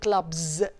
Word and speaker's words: clubs: خلاص, فعشان كده قلت clubs. So the s of the plural is coming after a voice sound, it's pronounced as ز, يبقى clubs.